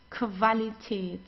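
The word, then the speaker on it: Qualität: vocabulary then we have whenever you have a Q and you together you pronounce it as like a K and W together like German W okay the so we don't say because many people say but it's not it's okay so like in English it's quality but we don't have this in in German okay it's qualitate qualitate and quantitate the quantitate the quantity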